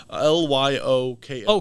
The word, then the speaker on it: Lyoko: every show I watched l-y-o-k oh code leoco I thought you're saying coleoko no Code Lyoko oh okay wait oh